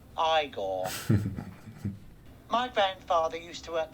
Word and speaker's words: Igor: frowick fron Ste critical thinking you must be eigor now it's pronounced igore my grandfather used to work for your grandfather